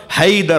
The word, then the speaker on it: حیدر: حیا درہ حیدر حیدر حیدر حیدر صحیح تلفظ ہوگا حیدر ہوگا، وہ حی سے حیا سے حیدر. عرب جب بولتا ہے نا وہ حیدر نہیں بولتا ہماری طرح، وہ کہتا ہے حیدر.